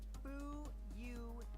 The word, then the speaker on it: Fuyuhiko: My first name is pronounced Bu-Yu-Hi-Ho.